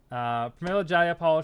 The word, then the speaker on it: Pramila Jayapal: the leader of the House Progressive Party, and Pramila Jayapal. That's it, Pramila. Pramila Jayapal.